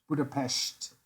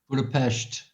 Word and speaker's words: Budapest: You gotta say it like that. Budapest. Budapest.